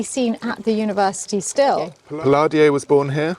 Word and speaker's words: Palladio: at the University still piladio was born here yes or Palladio depending on how you want to pronounce it well I say Palladio you say Palladio and the Italians say Palladio okay fair enough he